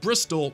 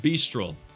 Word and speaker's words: Bristol: By the way, it's pronounced Bristol, not Bistrol.